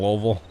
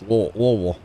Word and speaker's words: Louisville: told by locals like you have to say it like you have a mouthful of marbles okay that's how you pronounce Louisville anyway National Pharmacy shows